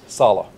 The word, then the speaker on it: Saleh: uh we've seen your name spelled how's it pronounced Salah is enough what's your impression of just looking